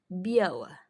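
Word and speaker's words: biały: Berikutnya tulisannya biali, tapi L-nya ada coretan. Kalau L ada coretan dibacanya W. Kalau Y dibacanya tadi E. Jadi biawa. Biawa.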